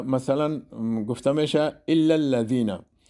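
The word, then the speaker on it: الذين: مثلا بعضی ها الذین میخوانن که غلط است. در تلفظ زال باید زبان در دو دندان بالا بچسبه، تماس پیدا کنه. مثلا گفته میشه الا الذین، و همین قسم لفی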